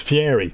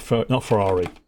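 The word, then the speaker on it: Fieri: It might be one of those ones that I'm Oh, it's Fiery. Not Ferrari. I'm a Yes. Guy Ferry.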